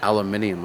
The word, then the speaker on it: aluminium: I didn't realize how much we butchered our language until I heard aluminium. I'm like, what's that? Like aluminum.